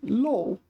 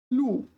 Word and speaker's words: 露: Probably this is low. I don't know. Well, what is it? Why are they here multiple times? Low. Lu. Generally, lo and lu are just interchangeable.